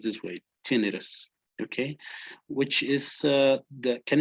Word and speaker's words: tinnitus: this term which is tinnitus in english is pronounced this way tinnitus okay which is uh can anybody tell me